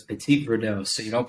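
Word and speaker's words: Petit Verdot: up okay whenever you pronounce it so it's Petit Verdo so you don't pronounce the first half of anything unlike unlike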